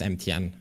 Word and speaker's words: MTN: name is actually like the idea when I got my name was that I wanted to pronounce like have people call me in way uh but it kind of just it kind of stuck with MTN and I prefer that over yeah MTN is a cool